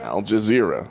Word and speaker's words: Al Jazeera: and according to algae Al Jazeera Al Jazeera Al Jazeera yeah probably saying that wrong I said it